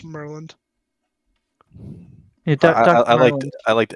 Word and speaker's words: Murlynd: It's Merland. Yeah, I Dr. liked Merlin. Ed's pronunciation better.